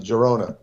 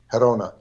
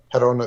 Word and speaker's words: Girona: um verona you're gonna in english you're gonna pronounce it girona spain verona perona is the g is pronounced herona herona spain which is near barcelona and this is